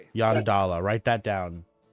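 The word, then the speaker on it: Yondalla: Yanadala. Write that down. How do you spell it?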